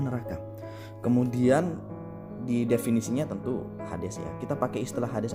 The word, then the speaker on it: Hades: Dan dalam pelafalannya Hades ya, Hades ya kan, pelafalannya Hades.